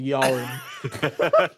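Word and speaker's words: Joran: is this kid called Yorin. And if anything, it's more of a silent J, really, because we pronounce it as a Y.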